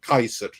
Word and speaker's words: Caesar: want an audience with Caesar." They had no idea you're talking about correct. It's Kaiser is how it would have been pronounced.